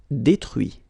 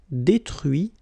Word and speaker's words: détruit: Détruire, détruit. Instruire, instruit. Okay, so you can notice that even if I put this final T, so as usual, I don't pronounce it. Okay, conduit, construit, cuit, détruit, instruit.